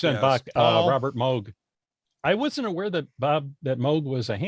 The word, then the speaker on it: Moog: Yeah, Robert Moog. That is correct. That is incorrect. It is pronounced Moog.